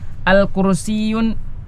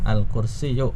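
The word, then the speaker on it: الْكُرْسِيُّ: I alkursiyun. Alqursiyu maksurun. Iya. Kursi itu patah. Iya. Ya. Enggak boleh. Almindilu. Iya. Enggak boleh pakai enggak boleh pakai tanwin tadi ya. Alqursiyu bukan al kursiyun ya.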